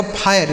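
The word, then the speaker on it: fire: इसे पढ़ा जाएगा फायर। इसे ना तो फर पढ़ा जाता है ना तो फिरे पढ़ा जाता है। कुछ नहीं इसे फायर पढ़ेंगे।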